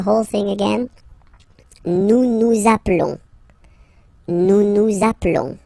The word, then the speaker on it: appelons: Nous appelons, nous appelons, okay, final S doesn't exist.